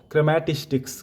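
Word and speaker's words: chrematistics: तो इसका प्रोनन्सिएशन देख लीजिएगा कि पहला है ओइकोनोमिया और दूसरा है क्रेमेटिस्टिक्स।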